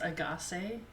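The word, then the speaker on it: Ahgase: Yeah, I think it's it's pronounced Agaz because it kind of sounds like from what I could tell it kind of sounds like I got seven.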